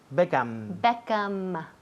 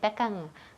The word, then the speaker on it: Beckham: Beckham. Beckham. Todo el mundo aquí dice Beckham con la boca abierta. Sí. Beckham, pues cierra. Beckham, M.